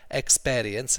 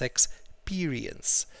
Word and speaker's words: experience: It's not experience, it's experience. Experience. Shakespeare, expeer. So experience. Okay?